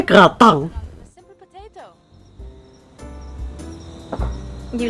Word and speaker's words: gratin: Jadi gratin itu bacanya gratang.